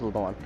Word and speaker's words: Leblanc: at the Blanc yesterday Leblanc it's pronounced Levon the doctor who prescribed